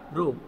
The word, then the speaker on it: rho: This is the symbolic notation of resistivity, and it is called rho. We will pronunciate it as a rho.